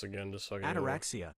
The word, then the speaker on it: ataraxia: Let me listen to this again just so I can Ataraxia is pronounced ataraxia.